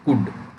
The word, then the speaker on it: could: तो ये बेटा एल जो है ना, एल, इसका उच्चारण नहीं करना है, इसका प्रोनाउंसिएशन नहीं करना है ना, ये साइलेंट होता है इसमें। तो इसको बोलेंगे कुड, क्या बोलेंगे, कुड।